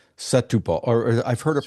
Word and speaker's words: Setúbal: We had an apartment in Setubal for a year as part of our D7 visa requirement, because you have to have a 12-month lease Yes.